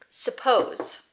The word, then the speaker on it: suppose: Suppose. Two syllables. Suppose. Suppose. Suppose. Pose is the stressed syllable. So the sound is over here. Su. So it's going to be a schwa.